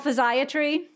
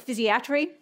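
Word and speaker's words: physiatry: Kim pointed out is it's called physio tree or our field also likes to pronounce it fizzy a tree or if you can't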